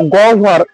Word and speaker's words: গহ্বর: তেমনি ভাবে দেখো, গহ্বর, এখানে হয় বয়ের সামনে গ আছে, গয়ের সাথে কোনো কার নেই, তার মানে সাথে একটা অ আছে, তাহলে এর উচ্চারণ হবে গ ফর ও আর ভ।